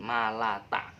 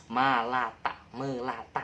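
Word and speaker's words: مَا لَا تَعْلَمُونَ: Malata. Oh, binatang melata. Tahu binatang melata? Ada ular itu binatang melata. Melata ya. Tapi bacanya jangan melata, tapi malata. Ma-nya dibaca panjang, la-nya juga dibaca panjang.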